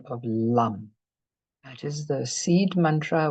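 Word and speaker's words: लं: It's Lam, L-A-M, but it's pronounced as Lam.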